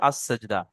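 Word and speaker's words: السجدة: আলিফ লাম আস, scene gym দাল, আস গোলতা হা উচ্চারণ হবে আস সেজদা। আসলে জি আলিফ জি, লামটা হলো হরফে আসাজদা, হ্যাঁ। হরফে শামসিন সিন, তো আলিফ লাম দুটোই বাদ যাবে, আস সেজদা।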